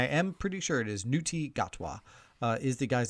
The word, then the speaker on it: Ncuti Gatwa: name, and I am pretty sure it is Ncuti Gatwa is the guy's name.